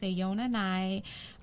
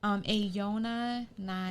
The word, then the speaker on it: AONA_NI: It's pronounced Ayona Nai. Say it one more time, please. How it's pronounced, yes. Ayona Nai. Because I'm sick of this shit. I know. We'll be on chats and people are like, how do you pronounce your name? It's Ayona Nai.